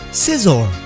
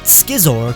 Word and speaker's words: Scizor: Scizor. Not Skizor, because that's not how you pronounce SC in English, and it's not Scissor either, because that would be pretty dumb. That's not an intimidating name.